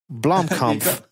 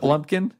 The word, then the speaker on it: Blomkamp: no money yeah so you guys are saying his name wrong Oh Blomkamp don't call that blumpkin yeah you call it